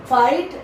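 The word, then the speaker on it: fight: फाइट लड़ना, इसको pronunciation को देखिए, इसके इसमें GH साइलेंट रहता है, फाइट।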